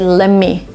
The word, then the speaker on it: lemme: So, they just omit the letter T and you get lemme.